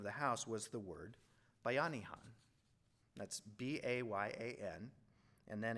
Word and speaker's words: Bayanihan: Pronounced like Bayanihan.